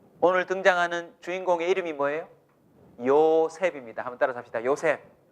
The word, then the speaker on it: 요셉: 요셉입니다. 한번 따라서 합시다. 요셉. 야, 사람 이름 하나는 기억하고 가세요. 요셉이에요. 영어식 발음은 조셉입니다.